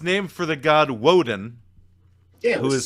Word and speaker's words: Woden: It's not Wotan, it's Woden.